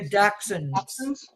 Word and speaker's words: dachshund: They're dachshund. Dachshunds. Is that how you pronounce it?